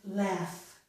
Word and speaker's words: laugh: I have cough, enough, and laugh. In these words, GH, the letters GH, occur at the end of each of these words. Very often, when we have GH at the end of a word, we do get the sound F, but not always, okay?